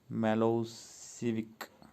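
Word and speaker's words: Milošević: A narrow-minded Serb nationalist Milosevic, pronounced Milosevic, had won the election.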